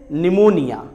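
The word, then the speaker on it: pneumonia: और ऐसे ही अगर लेटर पी के बाद एन आ जाए तो भी लेटर पी साइलेंट होता है. जैसे निमोनिया, निमोनिया.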